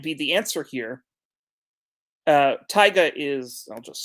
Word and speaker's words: Taiga: so that might be the answer here uh tyga is i'll just spell it in the chat just so that everyone